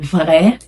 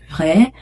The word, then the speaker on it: vrai: For example, the sound huh huh the the r the French r. For example, you have the French r in vrai, vrai, um très après.